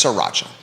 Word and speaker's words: sriracha: sriracha sriracha sriracha yeah but it's spelled sri yeah but it's sriracha like sri lanka sriracha um but a